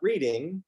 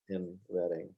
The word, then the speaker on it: Reading: So today we are going to spotlight Reading, Ohio. Not reading, Not reading, not reading, reading.